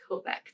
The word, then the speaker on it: Kovac: Don Kovac. That's how you say it. I was like, I don't know how to pronounce the last name. Kovac.